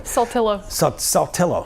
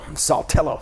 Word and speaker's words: Saltillo: So as we get into this, Guntown, Baldwin, and Saltillo, I'm not even going to try to pronounce that one. Saltillo. Saltillo.